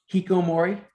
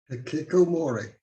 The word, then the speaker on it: hikikomori: Hikomori. Say it one more time. Hikomori. That goes over. Brian, Hikikomori. That is correct. You left out a Extra syllable, Chris.